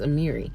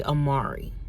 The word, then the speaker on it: Amiri: my name, I'm like, it's Amiri. It's Amiri. That's 3 syllables, right? That's a syllable, right? Don't judge me, okay? Don't judge me. All right. But I'm like, why do people say Amari?